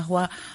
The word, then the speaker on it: Roy: Alors Roy, ça s'écrit comme roi, R-O-I.